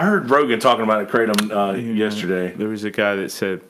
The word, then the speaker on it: kratom: kratom now I heard Rogan talking about a kratom yesterday there was a guy that said that should be pronounced for Tom kratom trot Tom yes so so Smitty that's closer to the